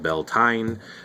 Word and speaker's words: Beltane: and then of course there's beltane sometimes called bell tine there's there's different ways of pronouncing in this course this